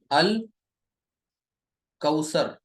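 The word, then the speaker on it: الكوثر: एक इस्म लिखा, और दोनों में देखिए लाम को प्रोनाउंस किया जा रहा है, पढ़ा जा रहा है, ठीक है। काफ से, काफ, अल कौसर, अल कौसर, ठीक।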